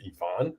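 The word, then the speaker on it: Ivica: say this guy's name it's spelled ivika but I believe it is Yvonne uh Yvonne zubach for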